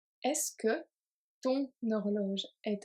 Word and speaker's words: horloge: So here we have horloge is a feminine noun, but it starts with a H, which this one is a mute H, H muet, so it acts as a vowel.